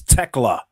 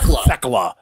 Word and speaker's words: Tekla: J. Alexander told us it's Tekla and not Thekla.